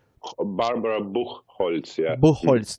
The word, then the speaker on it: Buchholz: Buchholz, right? That's her last name. Barbara Buchholz, yeah. Buchholz, that's a German pronunciation.